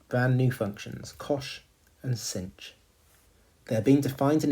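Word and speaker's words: sinh: coordinate of the unit hyperbola this we say cinch cinch is how you pronounce that so cinch is the y-coordinate of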